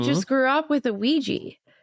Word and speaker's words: Ouija: of beginning of where ouiji comes from or ouija. That's the other thing. It's it is pronounced Ouija.